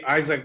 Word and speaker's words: Izhak: Izhak is how you pronounce it in Hebrew. Isaac is okay.